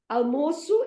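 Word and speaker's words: almoço: so like for example the word almosu is lunch a l m o c sedillia o okay foreign so it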